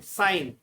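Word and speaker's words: sign: Second word है साइन, साइन में जी साइलेंट रहता है।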